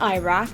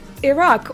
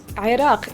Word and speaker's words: Iraq: where Iraq is today it's it's not Iraq it's Iraq or Iraq in Arabic Qatar it's Qatar in